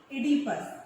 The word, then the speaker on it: Oedipus: One is Oedipus, although it is written from O, but it is read from E. Oedipus, O is silent.